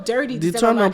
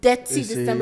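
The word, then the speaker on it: Detty December: They go dirty December. I'm like, it's not dirty December, Dead to December. You got to say it correct. If you want to go, you got to say it right.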